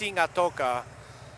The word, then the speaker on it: Sigatoa: And they they say it's in uh Singata, which looks like Sigatoa, but it's pronounced Singata.